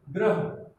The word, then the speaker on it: ग्रह: और इसमें हम क्या कर रहे हैं, जब नीचे लगता है तो मूल जिसमें लगा हुआ है, जिस वर्ण में लगा हुआ है, इसमें ग में लगा हुआ है, तो ग के बाद हम उसका उच्चारण कर रहे हैं। ये ध्यान देने वाली बात है। तो इसमें पहले हम ग पढ़ रहे हैं, फिर र, फिर ह।